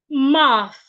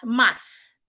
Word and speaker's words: math: Your tongue should be in between your teeth, like this. My tongue is not behind my teeth. It is in between my teeth. Math.